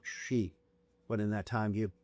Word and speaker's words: Sidhe: It's not Sif. Sidhe.